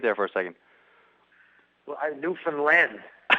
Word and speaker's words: Newfoundland: Well, Newfoundland. How do you say it? What's the correct way to say it? Newfoundland.